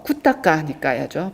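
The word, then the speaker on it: Khuddaka Nikāya: 마지막으로 꾸따까 니까야는요. 어 꾸다까 니까야죠. 발음이음 잡부라고 많이 알려져 있는데 잡다하게 다양한 많은 경전들을 어 체계 없이 특별한 체계 없이 이렇게 모은 그런 니카야인데요.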